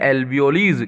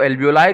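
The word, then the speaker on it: alveoli: Structure जो होता है उनको हम कहते हैं एल्वियोलीज। क्या कहते हैं, एल्वियोलीज। कुछ लोग उसको एल्वियोलाई कहते हैं। तो प्रोनाउंसिएशन पे बहुत ज्यादा जो है अपन को टेंशन लेने वाली बात नहीं है ना।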